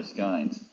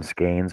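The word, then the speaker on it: skein: the ends off my skines and Jeff is All Eyes we pronounce them skaines but we'll let it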